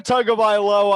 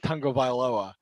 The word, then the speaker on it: Tagovailoa: Tua Tagovailoa, obviously we know what he's done in the big games.